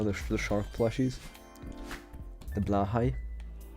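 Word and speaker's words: Blåhaj: the shark plushies the blah High I actually know how to pronounce it it's not blage if you hear someone say blage they're not a true Ikea enjoyer all right oh my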